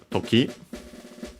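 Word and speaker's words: 時: So after that we have toki literally would be a noun with the meaning time our moment by extension also occasion case accented on the last syllable.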